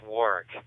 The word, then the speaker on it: Warwick: Is that how you pronounce that? I didn't cheat and look at his QRZ page, by the way. Yes, Warwick, but West Warwick is a separate town.